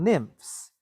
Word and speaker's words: nymphs: way to spell it it's not i it's why n is not f it's ph right nim okay all right beautiful